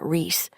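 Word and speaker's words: Rhys: Through Nicole's sleuthing, she discovered he was now going by the name Reese, a Welsh variant of the name Reese, pronounced the same way.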